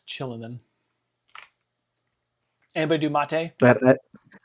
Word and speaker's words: Kylin: I wonder why it's chillin. Anybody do mate? I I have no idea why it's pronounced chillin if it's spelled that way.